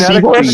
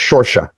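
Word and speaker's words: Saoirse: Isn't it seahorse? It's like, no, it's Shorsha.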